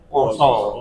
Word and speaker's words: pasa: Tulisannya pasa bacanya itu poso begitu.